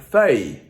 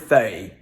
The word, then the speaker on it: feuille: Same thing with a word like feuille. Why are there two L's in the middle of the word feuille?